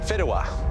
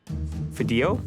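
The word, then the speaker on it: Fideuà: And the dish you'll be making is Fidua. I've never heard of this in my life. Fideo?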